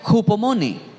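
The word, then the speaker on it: ὑπομονή: curioso Y es que en el original griego en que se escribe paciencia en la Biblia se pronuncia hupomone así hupomone y cuando yo dije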